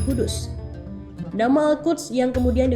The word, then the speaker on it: Kudus: Dari Baitul Maqdis kemudian muncul nama Al-Quds yang pengucapannya menjadi Kudus.